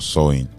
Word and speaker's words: Samhain: thins during Samhain or Sowing, making it easier for spirits and the souls of the dead to return. Samhain is pronounced Sowing, but it's spelled Samhain.